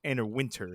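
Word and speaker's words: Anna Wintour: You know, I'm a stickler for pronunciation. is Anna Winter is how it's pronounced but it's spelled like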